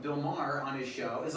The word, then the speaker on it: Maher: that's one thing i appreciate about like bill maher on his show is like i don't know who billboard is okay so he's a comedian he's on hbo so he's like bill maher m-a-r yeah i know it's n-a-h-e-r oh okay